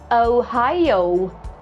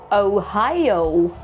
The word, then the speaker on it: Ohio: Ohio. Two diff thongs. Oh. Oh. Ohio. Ohio. Don't try to speed up your speech on deep thongs. Relax and enjoy them. Once again, Ohio. Not just Ohio.